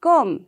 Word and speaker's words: comb: See, in comb also, we don't say comb, right? We say comb.